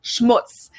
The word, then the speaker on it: Schmutz: And last but not least, the final word on my list is Schmutz. This one is pronounced and used the same way in both languages, and it means dirt.